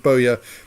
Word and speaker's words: bowyer: excellent right thank you thank you jacob for confirming that my pronunciation of bowya is perfectly reasonable just as my um